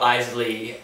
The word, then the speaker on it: Eisele: my name is isy emphasis on the Isley because I know it's kind of like hard to pronounce so just to be like Frank e i s e l e my name is